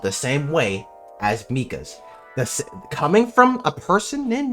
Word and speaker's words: Mika: I know his name is pronounced Mika. I knew a Micah that had their name spelled the same way as Mika's.